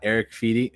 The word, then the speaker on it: Eric Fedde: Louis got Eric Fedde.